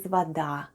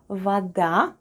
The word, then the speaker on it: вода: And one more new word for today is вода. Вода, вода. Вода is water in Russian. Let's spell the word вода. The first sound is v, then we have letter o, which is pronounced as a when unstressed.